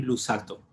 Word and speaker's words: Luzzatto: Entonces quiero compartir con ustedes una idea de un cabalista del siglo XVIII que se llama Haim Luzzatto. Se escribe con dos Zetas, Luzzatto.